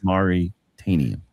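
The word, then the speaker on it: The Mauritanian: It's the Marturitarian. I thought it was Mauritanian. Mauritanian. Yeah. Maritime. I thought you just said the Martian. Mauritanian. Mauritanian. Yeah. Maripovich. It's Mauritanian.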